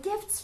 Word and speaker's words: Gift: I'm thinking what's the word had gifts had gifts for you and then later I found out